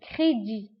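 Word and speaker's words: crédit: دين كريدي فكريدي كنكتبوها بالتي في آخر الكلمة ولكن ما كنطقوهاش كريدي.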